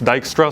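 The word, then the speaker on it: Dijkstra: least the text and the pronunciation it's dyra so now you also know how to pronounce it he kind of looks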